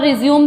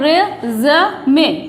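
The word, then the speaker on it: résumé: पर रिज्यूम देना है, तो ये रिज्यूम नहीं होता। अमेरिकन और इंग्लिश में इसकी प्रोनाउंसिएशन चेंज है, अमेरिकन में इसको बोलते हैं रेज़मे, रेज़मे। क्या बोलते हैं, रेज़मे। और ब्रिटिश में जो इसकी प्रोनाउंस बोलते हैं या प्रोनाउंस करते हैं इसको, वो करते हैं रिज्यूमे, रिज्यूमे। क्या बोलते हैं इसको, रिज्यूमे, रिज्यूमे।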